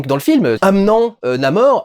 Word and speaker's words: Namor: Les Américains prononcent Namor, et lui, comme il est latin, il dit Namor. Donc c'est formé du mot ne pas avoir d'amour, sin amor. Donc c'est Namor. Namor, si tu le prononces à l'américaine. Les Françaises diront probablement Namor.